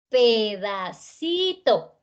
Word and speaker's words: pedacito: Entonces eso hace que esta palabra tenga 4 sílabas. Pedacito.